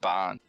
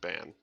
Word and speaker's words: Bann: ban banned from ban or is it Bon I think it's Bon it's ban on Rob pronounced it ban yeah two A's would